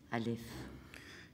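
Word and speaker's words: א: l'alphabet la lettre A cette lettre en hébreu n'est pas prononcée on dit seulement qu'elle est aspirée qu'elle est souffle cette lettre est silence Alf et avec les ans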